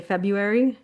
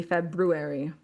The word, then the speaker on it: February: They say February. It's supposed to be February. When they say February, like it's the R's not there.